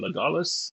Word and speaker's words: Legolas: Is it Legolas? I think it's Yeah, Legolas.